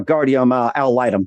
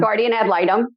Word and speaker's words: guardian ad litem: you to become a guardium al litem did i pronounce that right i'll light them guardian ad litem okay all right let